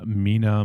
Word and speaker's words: Mina: and it stars um I think he pronounced his name Mina masud or I don't think it's Mena it's m n a probably Mina right also Olivia Scott Welch